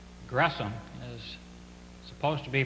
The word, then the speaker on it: Gresham: S and the H it's not an sh sound but it's a syllable division there so it's grome on May 3 1915